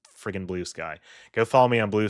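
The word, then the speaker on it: Bluesky: I've I've I people have been saying it's pronounced blue ski I refuse to believe that until I see evidence otherwise it's freaking Blue Sky go follow me on Blue Sky I going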